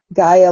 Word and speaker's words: Gaia: I don't I gotta you can call me i Gaia like Gaia Mother Earth I feel like that